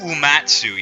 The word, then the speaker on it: Uematsu: Nobu Uematsu, yep, that's how you pronounce it.